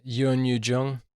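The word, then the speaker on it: Youn Yuh-jung: And I have vowed not to say the grandmother's name until I know how to pronounce it correctly. Can you say it once for me? Yeah. Yoon Yoo-jung.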